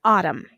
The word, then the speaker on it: autumn: our next column him column an autumn at the end of each one of those words you hear hmm you don't hear the N so you're going to underline em n in all three of those words and you're going to circle the end because it is silent our last column calm